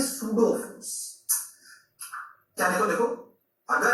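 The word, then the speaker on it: pseudo: पड़ेगा जिसे कहते हैं सूडो फोर्स। पी साइलेंट है इसमें, कौन सा फोर्स?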